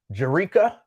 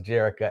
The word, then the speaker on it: Jerica: see you there um jerica it's actually jerica but for whatever reason lincoln can't seem to ever pronounce jericho and it's the funniest thing